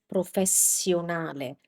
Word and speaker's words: professionale: So in Italian, this is pronounced as s. And when you have two of them, you just keep it for longer. S. So this is professionale.